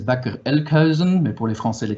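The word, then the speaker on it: Bakker Elkhuizen: bâcler le cuisine donc on le prononce à la hollandaise bac elle creuse mais pour les français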